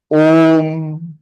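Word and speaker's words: ॐ: half is same like anusar so it is pronounced om om om oh om am I clear my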